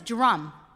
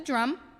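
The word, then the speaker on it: DRUMM: the first one is drum just like the instrument d-r-u-u-m diverse revolutionary uu multicultural ministries it's pronounced as we know like the drum and it's a collective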